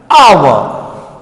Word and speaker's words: hour: But here our, what? Our, H is silent here and it doesn't give any sound.